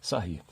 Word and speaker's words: Sarrus: escreve regra de sair se escreve assim mas se se lê sair e essa regra consiste